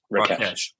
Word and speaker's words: Rakesh: Rakesh? Rakesh.